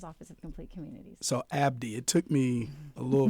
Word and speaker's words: Abedi: So Abdi, it took me a little bit. I had to practice Abdi, and that is. So I'm Palestinian, born in Lebanon. So that's the E is silent, tricks you.